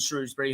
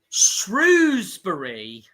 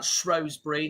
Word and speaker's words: Shrewsbury: Shrewsbury. posh people would pronounce that Shrosbury. They don't have any idea what they're talking about. They're full of wank.